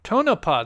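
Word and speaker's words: Tonopah: did I pronounce it wrong I I always pronounce that town wrong is it to tonapa tonapa that's right tonapa my bad um it happens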